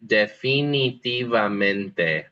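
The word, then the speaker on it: definitivo: Definitiv. Yeah. Good. Remember that all the eyes are e.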